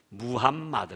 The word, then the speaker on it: 무함마드: 마음에 떠 라고 그러는데 그건 영어식 바람이고 원어 발음 은 무함마드 문이다 부암 맛 무함마드는 자기 그가 어머니 뱃속에